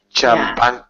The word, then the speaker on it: champagne: It is because, again, we have a silent G in this world. And normally CH is ch in English. But this is a French word, not an English word. So it's champagne.